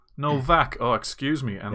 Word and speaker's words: Nowak: Nowak no it's it's it's German so it's pronounced Novak Novak excuse me and right